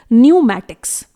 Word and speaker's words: pneumatics: इट इज न्यूमैटिक्स। यहां पर भी हम P को प्रोनाउंस नहीं करेंगे जो कि साइलेंट रहेगा।